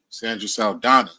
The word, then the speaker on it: Saldana: Jimmy Twice, Miss Quota, and Sandra Saldana. Did I pronounce that right?